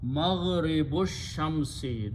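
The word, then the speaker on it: مغرب الشمس: Do not pronounce this alif. It becomes hamatul wasal. It becomes maghribu shamsi, the setting of the sun.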